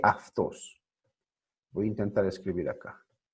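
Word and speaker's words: αυτός: Aftos, ¿cómo se lee? Se escribe autos, pero se lee aftos.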